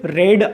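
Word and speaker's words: read: तो आपको मैं बता दूं कि रिड की तीनों फॉर्म क्या होती है, रिड, रेड और रेड, ठीक है। यानी कि जो दिखने में तीनों एक जैसी होती है, लेकिन जो प्रोनाउंसिएशन होता है सेकंड और थर्ड फॉर्म का, उसको हम क्या बोलते हैं, रेड पढ़ते हैं, ठीक है।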